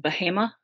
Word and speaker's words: Bahama: But the place is called Bahama, which is spelt like Bahama, but not at all the same place, B-A-H-A-M-A.